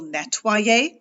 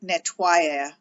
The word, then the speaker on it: nettoyer: So nettoyer is the verb, but when we put it, when we spell it with an I before we add our ending, you end up pronouncing it more like nettoyer, so that you're not like ing.